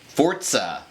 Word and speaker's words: Forza: down from the heavens, Forza. It's not Forza, it's Forza. Did you know that? Forza. Yeah, that's apparently how you pronounce it.